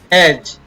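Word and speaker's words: edge: इसी प्रकार एज, ए ज, डी को नहीं पढ़ेंगे, साइलेंट रहता है।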